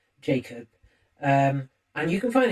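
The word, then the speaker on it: Jak0b: their artist Pels, uh, named Jacob, uh, which is spelled J A K and then a zero instead of an O B. Jacob.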